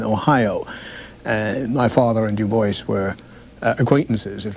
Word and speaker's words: Du Bois: David Ling Lewis web de Boyce yes he always insisted on that pronunciation uh he did not like the GAC